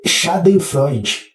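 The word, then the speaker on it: Schadenfreude: é shaden Freud tá Por que que eu tô falando abrasileirado porque o Freud no final que vem de felicidade é a mesma raiz do nome do Freud psicanalista tá e a gente fala comumente Freud ninguém fala Freud né em alemão com pronúncia alemã né então se é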